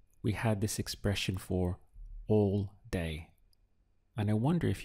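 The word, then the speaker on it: allí: we can't go now the word for there in Spanish is a just two syllables we have a and then this is Ye Ye so a means there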